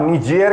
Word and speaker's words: Niger: निजेर जो है वो फ्रेंच प्रोनाउंसिएशन है।